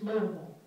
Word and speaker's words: Louisville: For those not from Kentucky, it's spelled Louisville. Those of us born and raised there, it's Louisville.